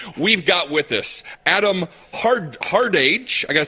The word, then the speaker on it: Hardage: fantastic television and we've got with us Adam hard-hard age I gotta say our heart age as I say your name ricer hearted that's correct all right I said it right